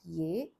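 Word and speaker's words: यह: In the script, it's written as yah hai. Yah hai. But again, the pronunciation is closer to this one. Ye hai. Ye hai.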